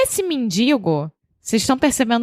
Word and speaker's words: mendigo: Bom, então, essa expressão foi criada, aparentemente, no século XX, com um mendigo no Rio de Janeiro. E esse mendigo, vocês estão percebendo o meu sotaque, né? Eu não falo mendigo, eu falo mendigo.